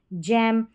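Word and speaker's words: gym: तो यहां पर है जेम और जायंट और जिम क्योंकि जी के बाद में आई है।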